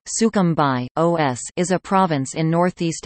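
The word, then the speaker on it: Sucumbíos: sooo cambios Spanish pronunciation sukham by OS is a province in northeast Ecuador the capital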